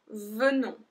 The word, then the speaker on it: venons: Nous venons, venons. So we pronounce the E like a E.